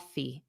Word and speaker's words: coffee: let's grab coffee cof Cofe Cofe so you have that long e sound of course but remember the syllable stress is on the first sound Cofe and then you could